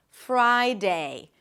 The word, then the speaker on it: Friday: Bring the bottom lip to the top teeth for the F, release air, and then lift the tongue up as you're pronouncing the F, and then round your lips immediately. Fur, fur. Don't add any sounds in between. Fry. And then it's the I as in my. Fry. Friday.